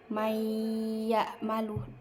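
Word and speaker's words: من يعمل: May ya malu, langsung ke iya. Jadi nunnya tuh gak usah dibaca.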